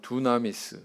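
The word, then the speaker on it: δύναμις: 이제 권세라 하는 그런 단어가 나왔어요 원어로 보면 두나미스 뭐 이렇게 발음합니다 영어로는 파워 이렇게 번역이 됐습니다 우리 학생들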